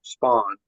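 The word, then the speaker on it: Spond: Again, it's it's it's pronounced spawn.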